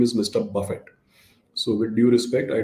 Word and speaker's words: Buffett: His name is spelled in a similar fashion, but pronounced very differently. His name is Mr. Buffett.